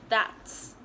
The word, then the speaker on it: that's: Instead of pronouncing the letter T before the S, you guys normally skip it and only pronounce it as das. So it's pronounced as that's.